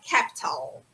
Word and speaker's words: capital: Capital. Capital. Ou capital. Americano, gente, tem uma tendência a botar um som de R quando tem T.